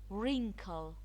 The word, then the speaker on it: wrinkle: Wrinkle, wrinkle. The W is silent.